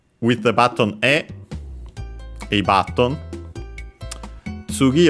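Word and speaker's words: 次: Technically on its own an accent on the last syllable, and so actually in this case we would hear it, unlike when we had no, because no is an exception. It makes words accented on the final syllable unaccented. Other particles don't do so, like in our case the object particle, so tsugi or low, high, low.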